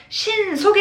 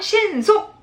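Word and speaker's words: 迅速: " 신소쿠 " 라는 명사 입니다 . 땡땡 . 다시 한 번 " 신소쿠 " 입니다 . 땡땡 . " 신소쿠 " 는 어떻게 읽나 요 ?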